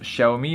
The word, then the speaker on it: Xiaomi: demi un ace alors ça se prononce chahoumi alors pour les gens